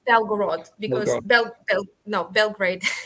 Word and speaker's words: Belgorod: Oh no, Sorry, no, it's my it's pronunciation. it's Belgorod, because Belgrade.